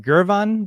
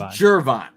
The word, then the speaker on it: Gervon: to the defensive line so is it gervon Dexter is that how you pronounce it on the last show we're on or did you do it wrong I did it wrong it's jervon okay I'm making sure